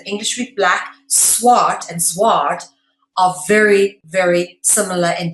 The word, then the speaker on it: zwaard: In English, a sword is obviously spelled S-W-O-R-D, but in Dutch it's spelled Z-W-A-A-R-D, okay?